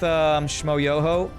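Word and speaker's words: Shmoyoho: Is that with Shmo Yoho? Accent on the yo? Yeah, it is from Shmo Yoho.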